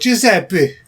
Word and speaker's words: Giuseppe: A guy called Giuseppe.